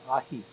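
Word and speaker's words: ají: Now, if you see on the menu AJI, you pronounce it ahi, like the fish ahi.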